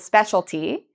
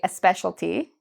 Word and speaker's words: specialty: A lot of Spanish speakers will add this E and say a specialty. Again, this is how it's spelled, specialty. So instead of saying a specialty, what can we say? Well, again, I have the CE. And so this is specialty.